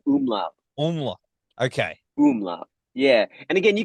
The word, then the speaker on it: Umläut: we were talking about I'm Lord is that how you pronounce it the the project no it's a little more with a double O to the m it's like a umla okay yeah and again